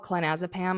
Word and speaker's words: clonazepam: I took an entire bottle of, I think it's called clonazepam. I feel like I always pronounce it wrong.